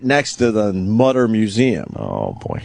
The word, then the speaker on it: Mutter: It's a harder U. Is that hard? If it was Mutter, it would be M-U. What is it, M-U-E or something? M-U? How do you spell it, Travis? M-U-T-T-E-R. Oh, it is spelled Mutter, but I think the umlaut makes it a U. E. Otherwise, it would just be Mutter. Yeah, it's Mutter.